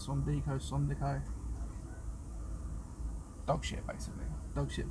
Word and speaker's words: Sondico: That's how you pronounce it. Sondico.